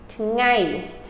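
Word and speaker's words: ថ្ងៃ: Week is a, tat, a, tat, a, tat, ngai. Ngai, the I is the accented syllable.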